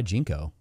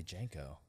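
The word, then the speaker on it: JNCO: by lou malnati's and jinko is that how you pronounce it jinko jinko jinko jeans jinko why would i say janko i want to be i always say i said jank is that a filipino thing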